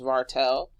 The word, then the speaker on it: Vartl: Another creator I like is Vartel. It's spelled Vartl.